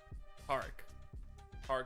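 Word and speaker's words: Tarik: Is it not Tariq? Is that not his name? Tariq Scooble? Tarek? Okay. Tarek Scooble.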